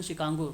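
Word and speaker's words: Chicago: अच्छा, pronunciation शिकागो से होता है। जैसे काई स्क्वायर है ना, तो काई स्क्वायर में यहाँ पे देखिए CHI होता है, इसको काई बोला जाता है ना।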